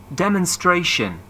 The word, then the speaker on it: demonstration: your books, please try to underline the stress syllable in these nouns. 4.38 Word building. Making nouns from verbs. 1. Compensation, demonstration, explanation.